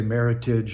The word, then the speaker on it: Meritage: like I like Meritage the locals say Meritage I like the sound Meritage it's a French restaurant